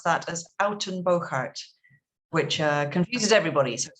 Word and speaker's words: Uittenbogaard: and i'm living in the netherlands and you pronounce that as alton boccart which uh confuses everybody so it's not just